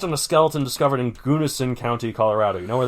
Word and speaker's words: Gunnison: Gunnison County, yeah. Gunnison? I don't know. Gunosun. Is that the Russian Colorado? It's in Gunosun In County. Russian Colorado, we pronounce it Gunnison.